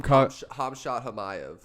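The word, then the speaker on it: Khamzat Chimaev: Hamshat Hamayev. Hamshat Hamayev? That's how you pronounce his name? That's right. Damn. I know for sure. What's the odds for that one? Hamzat Chimaev on, what are we doing?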